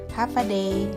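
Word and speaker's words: Håfa adai: day Parang ganon pero ang pagpronounce daw non ay half a day ang ibig daw non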